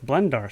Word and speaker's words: BlendAR: Like, it's Blender and it's AR, augmented reality, I guess, but it's like I have to say, like, hey, it's Blendar, spelled with an AR.